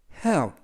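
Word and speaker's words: half: 이고요 딱 붙는 으 윽 그래서 해 없 해외 앱 라고 발음합니다 뜻은 절반 이라는 뜻이고요 향 라고 발음하지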